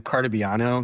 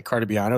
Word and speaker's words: Cartabiano: yeah, it's easier than Cartabiano because most people can't pronounce that. So it's just an easier month. I don't know. It is phonetic. It is spelled exactly the way it sounds.